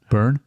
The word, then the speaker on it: Byrne: Burn. Byrne.